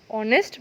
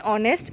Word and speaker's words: honest: Moving further, although he is poor, he is dash honest boy. So what we will write? O or N? Correct, N. Here in honest, H is silent.